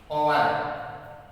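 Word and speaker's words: hour: तो इसका वही बात है, अगर हम उच्चारण करेंगे तो ओवर्स थोड़ी होगा। एच है, एच का है होता है, लेकिन यहाँ पर ये ए बोला जाता है तो ये क्या होगा? ओवर।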